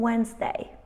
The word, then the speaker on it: Wednesday: having a sandwich on Wednesday my handsome boyfriend lent me his handkerchief while having a sandwich on Wednesday which one is silent and in this sentence we've got a silent D we don't say really